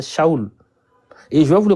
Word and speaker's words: Saul: Voilà pourquoi ça s'écrit S A U L. C'est shaou.